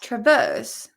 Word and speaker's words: traverse: Traverse. It's not traverse, it's traverse, because the stress is on the verse.